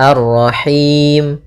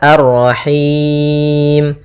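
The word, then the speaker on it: الرَّحِيم: Boleh dua, boleh empat, boleh 6. Maka kalau dua misalnya arrahim, kalau empat arrahim, kalau enam arrahim.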